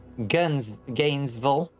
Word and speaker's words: Gainesville: Pronounce the city Gainesville. Same with most of the cities that end in vol. Just ask, yeah, pronounce it vol.